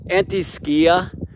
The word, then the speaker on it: antiscia: capricorn solstice point yeah anti-skia i'm told it's a better pronunciation because skia is greek for shadow now typically astrologers are